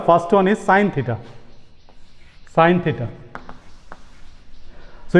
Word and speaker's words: sin: Sin theta. So you can see it is written as SIN, but its full form is SINE.